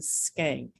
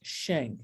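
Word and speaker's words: Schenck: our beloved david spank had a dutch pronunciation so like school and skank in german it's pronounced shank i'm like go with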